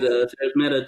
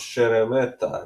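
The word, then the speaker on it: Szeremeta: So I this is think Sarah's Meta took his second loss. it's pronounced Sheremeta, I believe.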